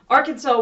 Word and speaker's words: Arkansas: Arkansas was once part of French territory in North America.